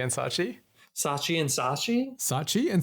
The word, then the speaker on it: Saatchi: How is that pronounced, Jay? Do you know? It's Saatchi and Saatchi.